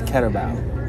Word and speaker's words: Carabao: I was going to say I'm glad she's here because she finally explained how to say the name of the restaurant. I've been butchering it the whole time, and it's Carabao.